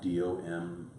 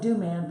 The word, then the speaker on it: Domann: And it's DOMANN. Looks like Domann, but it's pronounced Domann.